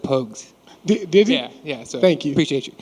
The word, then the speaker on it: Pogues: what's the what's the what's the proper way to say Pogues pokes yeah it's po juice pogus I've heard everything you heard of but it's Pogues and pokes and see